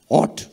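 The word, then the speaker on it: ought: ইংরেজিতে duty K ও ইউ জি এইচ টি অট ইউ অট টু do this অট কথার মানে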